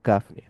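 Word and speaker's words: قاف: আর তালুর মেইন অংশে যখন টাচ করে তখন কাফ উচ্চারিত হয়।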